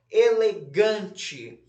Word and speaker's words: elegante: Elegante, um tracinho embaixo da sílaba gan.